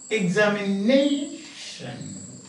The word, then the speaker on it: examination: So you say examination. So you will say stress is on 1, 2, 3, 4th syllable. Stress is on the 4th syllable.